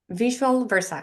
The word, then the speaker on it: Visual Versa: What's the right way to say? Visua Versa? Visual Versa. Visual Versa. So it's like vice versa, but with visual, yeah.